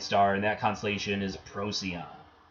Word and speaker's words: Procyon: Go above Canis Major, you get the little dog, Canis Minor, and the bright star in that constellation is Procyon. Pronounced weird, and even on these things you can get pronunciation.